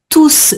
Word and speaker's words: tous: Donc, tous viennent. Là, c'est le Tous pronom, viennent. hein. Tous a la fonction de pronom dans ta phrase et on prononce toujours le S quand tous est Mhm.